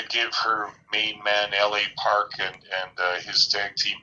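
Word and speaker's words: L.A. Park: scheduled a no dq matchup against lo uh los parks this is la park and sorry again with my pronunciation hugo de la park la park yeah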